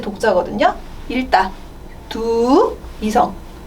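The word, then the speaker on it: 读: 얘는 발음이 칭시에 이제 적으세요 라는 뜻이겠죠. 적으세요. 그리고 읽다 독서 할 때 독자거든요. 읽다 두 이성 두 그러면 칭 했다가 바로 두로 올라갈게요.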